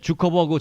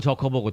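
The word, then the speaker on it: Zuckerberg: 났거든요 나 예 4 주커버그 저커버그 독일식 영어식으로 좀 발음이 좀 받으면 적어 있구요 4 금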